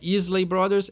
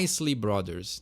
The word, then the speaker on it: Isley Brothers: que cuidar muito bem esse é mais um daqueles casos onde parece que tem acento não é isley Brothers é a isley Brothers não tem cuidar muito